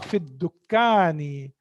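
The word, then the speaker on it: في الدكان: Huwa fid dukkani. Again, dal is also harfu shamsiya. So that's why I'm not pronouncing lam here.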